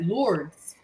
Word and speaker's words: Lourdes: normal that's and and when I learned about our lady in in France they don't pronounce it either way they called it Lourdes Lourdes yes Lourdes France you know say no to this or Lourdes or anything like that Lourdes is how they say it in France my Lady